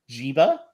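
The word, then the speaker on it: Djiga: But they did have a plan B, guys, and that's Nasir Giga. I got it. Wow, the D is silent, guys.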